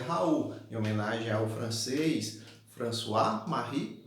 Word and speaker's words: Raoult: Ó, Raoult, pronuncia Raoult, em homenagem ao francês François-Marie Raoult.